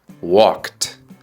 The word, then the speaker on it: walked: he to the supermarket La respuesta es walked con el sonido de una t suave he walked to the